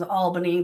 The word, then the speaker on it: Albany: it like you know my last name is Albany but so many people mess it up it's like it's the capital of New York most people do say